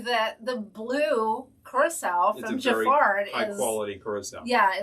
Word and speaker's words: Giffard: Now, if you want to hit some really nice brands like Giffard, Brizard, other things that rhyme with ard, you'll find some really good stuff.